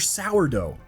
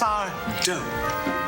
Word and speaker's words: Sardo: Not to mention, Gary is the man responsible for giving us Mr. Sourdough. It's Sardo. No, Mister. Accent on the Sardo is one of my all-time favorite characters ever.